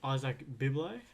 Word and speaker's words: Izak Bibile: Today's episode is Izak Bibile. How's it going, mate? Very good, mate. Thanks for having me and thanks for pronouncing my name correctly.